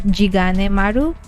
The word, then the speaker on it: Jigane Maru: Chigane Maru's name is, it's actually apparently in Ryukyu it's actually pronounced as Jigane Maru.